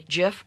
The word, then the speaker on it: GIF: If I take a look at a GIF or GIF, depending on how you pronounce it, I only have 256 colors available to me.